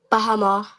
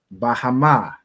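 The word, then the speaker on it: בהמה: Now, Ayala, could you tell us how we would pronounce this first word in the Hebrew? Beasts. Khan. Bahama. Bahama. Excellent. Right? So Bahama means beasts or cattle.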